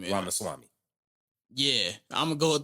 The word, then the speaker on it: Ramaswamy: He with Elon Vivek, I can't pronounce that man last name. Ramaswamy.